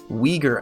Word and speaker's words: Uyghur: s 178 and it was known as the uyghur act which yes i am pronouncing that right and i don't pretend to